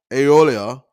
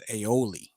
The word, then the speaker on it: aioli: cheddar cheese and truffle aeolia on a toasted irish buttered brioche bun now i do know the one thing and you said you already apologized i think the pronunciation is aioli her too so she's